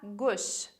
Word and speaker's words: gauche: Aqui repara na pronúncia da palavra gauche, que a gente vai falar o AU com o som de O. Então, a gente vai falar gauche.